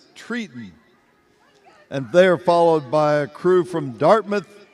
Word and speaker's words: Triton: They pronounce it Triton.